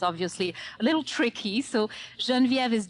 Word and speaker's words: Genviev: being european is obviously a little tricky so jean viv is g as in george e as in